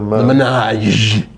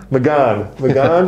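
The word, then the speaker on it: Mégane: The Ménage. It's not the Ménage. It's the... I like calling it Ménage. It's not Ménage, it's the Renault. Magan? I can't say. It's Magan, but I call it Ménage.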